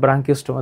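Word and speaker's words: Branchiostoma: এই উচ্চারণটা কর। ব্রাঙ্কিস্টমা দেখে তো আস্তে আস্তে এগলা পড়বা সামনে।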